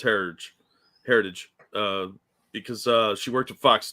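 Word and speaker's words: Herridge: Heritage. It's like heritage, but with a D.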